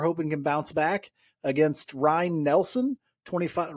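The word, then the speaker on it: Ryne: against Ryan Nelson 25 Ryan like Ryan Sandberg by the way in case you're wondering I don't know if he pronounces it Ryan or Ryan it's it's r-y-n-e for those counting at home we're gonna we're gonna pretend like it's Ryan Sandberg and just say Ryan um 25 year old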